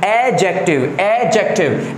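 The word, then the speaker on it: adjective: याद रखना पहले यहां पे जो डी वर्ड रहता है ये साइलेंट होता है। आप लोग को ये सारी चीजें जाननी चाहिए कि क्या साइलेंट है क्या नहीं साइलेंट है। तो इसका जो उच्चारण है एडजेक्टिव नहीं, एडजेक्टिव।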